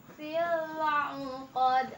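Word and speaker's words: قد: Qad. Hati-hati ya, ini bacanya kayak ain. Ya kayak gitu. Mendengung ya, mendengung. Qad. Biasa ini dipantulkan ya. Kenapa? Karena qalqalah kubro.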